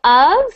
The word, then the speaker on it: of: So of is pronounced like a V. So of, not of.